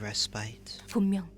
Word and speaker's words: respite: what did you know that's not how you uh pronounced pronounce Rite I hate it it's respit actually that's the correct pronunciation and I hate it so much I'm I'm never pronouncing it rbit yeah me neither the